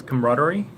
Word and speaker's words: camaraderie: one for today is camaraderie so the spelling and the pronunciation is totally confusing because yeah because it's spelled like camera Tori but it's that's not I say it's like comradery yeah I would probably